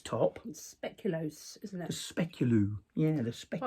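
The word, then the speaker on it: speculoos: speculos isn't that a speculu yeah spelled with double O so it's not an ooh it's an O So specular I'm still waiting for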